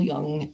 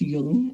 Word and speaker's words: Jung: So Carl Jung, which is spelled Jung, but it's Jung, I guess is what it's pronounced.